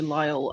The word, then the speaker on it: Lyall: I am joined by the lovely Andrew Lyall. I hope that I pronounced your surname correctly.